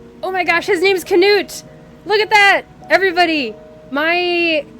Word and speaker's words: Canute: That's how you pronounce it. Yeah, Canute.